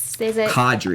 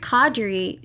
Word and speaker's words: Qadri: did fire I'm gonna say him at her name wrong Adri Adri Adri thank you cadre yeah she fired Qadri just because Qadri is a huge she she